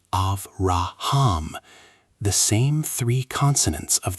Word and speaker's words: Abraham: Abraham is pronounced Avraham.